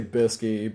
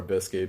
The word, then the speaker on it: Bisky: characters and everything was they say Bisky, but it's spelled out biscuit and everything like the food. So take it as you will. I'll call her Bisky because that's what they want me.